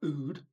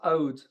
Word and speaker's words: oud: In the Middle East, oud is pronounced oud. They have a floating A, and it is why I put the A there. It's very soft.